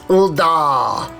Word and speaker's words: Ul'dah: You have to say it correctly. It's Ul'dah. Every character that is voiced, whenever they say Ul'dah, they always say Ul'dah. Like they make a big, the da is always, like extra pronounced.